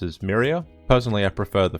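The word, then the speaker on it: Miriya: to pronounce in the first novel The narrator pronounces it as Mariah but in the following stories it's pronounced as Mira personally I pref prer the first pronunciation but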